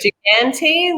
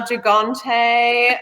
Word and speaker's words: Gigante: Because I've heard it Gigante, which is very Aussie Gigante, and I've heard it a little bit more Euro style Gigante.